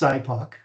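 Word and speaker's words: SIPOC: so the thing is it's pronounced cypo that's how it is and by creating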